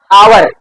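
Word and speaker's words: hour: यहां पर लिख दिया एच ओ यू आर और यहां पर लिख दिया एच ई आर ओ तो य क्या लिखा है आवर इसमें बेटिया एक साइलेंट होता है यहां पर लिखा है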